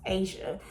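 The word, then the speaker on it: A'ja: the book right here her name is spelled a apostrophe ja a but it's pronounced Asia so you can only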